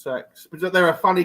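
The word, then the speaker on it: CeX: always wondered like because i always just said cx i'm like i don't because you assume it's not sex don't you yeah you assume it's not gonna have you're not gonna have a shot called sex but no it's pronunciation is sex and they think it's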